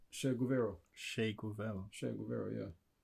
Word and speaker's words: Che Guevara: Oh, Che Guevara.